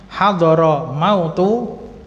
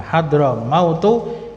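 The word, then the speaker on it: حضرموت: ilai nah sedangkan Berikutnya hadoro mautu ini jangan diartikan maut ya kematian telah hadir bukan tapi ini Hadro mautu bacanya d apa dodnya disukun jadinya Hadro mautu itu nama suatu kota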